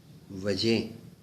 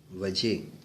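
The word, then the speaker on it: وجہ: अब अक्सर देखने में आया कि वजह को वजह बोला जाता है, वजह, क्या वजह है, तो ये वजह कहना गलत है, क्योंकि इसकी जो प्रोनाउंसिएशन है, इसका जो तलफ़ुज़ है वो है ये, हे, वजह।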